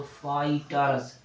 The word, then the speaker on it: fighters: था, टाट बताया था, जी एच साइलेंट हो जाता है ना। तो एक उदाहरण और ले लो, एफ आई क्या हो जाएगा बच्चों, एफ से फा होता है, आई है तो ई पढ़ा जाता है, तो क्या हो जाता है, हो जाता है फाई। जी एस साइलेंट हो गया तो किसकी बारी आ गई, TERS, तो TER तो हो गया ट रस, तो क्या हो गया बच्चों, फाइटर्स। फाइटर्स यानी फाइटर्स, क्या हो गया, फाइटर्स।